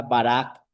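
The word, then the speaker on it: ברא: palabra creo que es una palabra única en el hebreo que se pronuncia barak, que es hacer de la nada.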